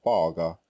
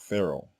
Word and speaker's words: Pharaoh: of Masha's name, nor the Egyptian word Paga, which is the correct way to say this word in Egyptian, not Pharaoh.